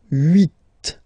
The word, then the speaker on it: huit: Then here, final T is pronounced, so huit.